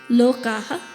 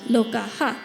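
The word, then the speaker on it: lokāḥ: Similarly, lokaha, the first word of the mantra, is spelled L-O-K-A-H with a dot. You can check it out in the summary below the video. There's no A there at the end, lokaha, but the dot under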